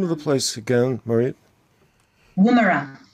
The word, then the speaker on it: Woomera: Woomera. It's an Aboriginal name. It's spelled W-O-O-M-E-R-A, Woomera.